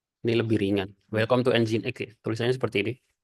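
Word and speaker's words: nginx: lebih ringan Welcome to engine X tulisannya seperti ini jangan ada yang ngomong nging Apalagi sudah semester 8 aplikasi web servernya nyebutnya nging cara bacanya engine X oke nah kalau sudah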